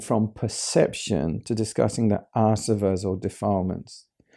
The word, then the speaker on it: āsava: introducing this new term when you have a line over the a it's a long it's pronounced long ah server and combining with elements